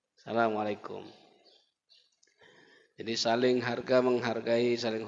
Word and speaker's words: Assalamualaikum: lam lam itu pun Salamualaikum itu banyak salah Pak bacanya kumnya itu pendek Kaf mim mati depapan kum Assalamualaikum yang banyak di tengah lapangan apa Asalamualaikum kumnya panjang yang benar kumnya pendek Asalamualaikum jadi saling harga menghargai